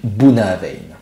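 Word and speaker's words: Bunnahabhain: petit peu moins connue j'ai nommé bounaavein oui c'est comme ça que ça se prononce cela signifie embouchure de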